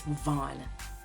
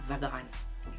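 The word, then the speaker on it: Vaughan: no we want stra another silent one if you started to pronounce it with the G you done wrong it's van it's not vagon it's Van van why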